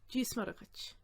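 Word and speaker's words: Dia is Muire duit: Dí is muragach. But it's usually run together as dísmuragach.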